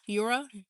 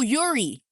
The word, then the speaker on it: Yuri: Okay, it's my name like Oh, Yuri. No, Yuri Yuri Ge Geller. Like Yuri Geller. Oh, so it's Yuri? Your name Your name is pronounced Yuri, not Yura?